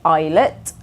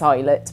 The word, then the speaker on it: Islet: and then finally um we have a band called eyet or islet uh it's highet but there's often a lot of debate over how to pronounce the band's name um Mash of kind